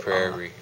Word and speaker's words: prairie: Prairie. R-I. And to pray is with a Y. So it's like almost like a pear, P-R. It's just a prairie.